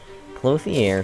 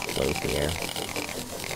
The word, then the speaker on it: Clothier: in which is stupid clothier still sounds like the wrong pronunciation to me even though it is the correct pronunciation i'm pretty sure you can look it up and it's just close here i just whistled like